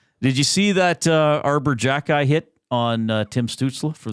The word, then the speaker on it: Xhekaj: Did you see that Arbor Jackeye hit on Tim Stützle for the Ottawa Senators?